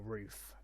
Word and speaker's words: RUF: iuf in this field or roof if you want to be specific on how it's pronounced but again i prefer ruff because that just seems more traditional so heading over to